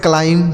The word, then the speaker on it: climb: और B है तो यहाँ B साइलेंट है, यानी इसको हम नहीं पढ़ेंगे। इसे पढ़ा जाएगा क्लाइम, मतलब हो जाता है चढ़ना।